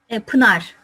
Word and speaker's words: Pınar: How to pronounce? Pınar.